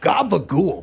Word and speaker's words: gabagool: What is gabagool, by the way? Capicola, that's just a mispronunciation of capicolo.